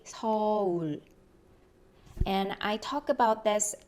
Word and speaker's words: 서울: So sometimes I hear a lot of people say soul. That's not actually a correct pronunciation in Korean. We say 서울.